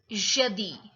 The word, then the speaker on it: jeudi: Jeudi.